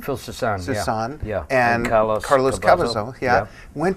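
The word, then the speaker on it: Soussan: And you and Joe Lynn Turner, it was Phil, so how do you pronounce his name? Susan? Phil Susan, yeah.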